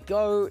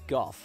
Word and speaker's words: Gough: In 4th place is Michael Gough, and before you Americans tell me it's pronounced Michael Go, no, he's a British actor. In England, a name like that would be pronounced as Gough, so The more you know.